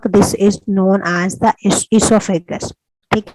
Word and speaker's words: esophagus: This is known as the esophagus. ठीक है, it's known as the esophagus. You will find in some old books it's written with O. O is silent. ठीक है। अच्छा, esophagus जो है वो food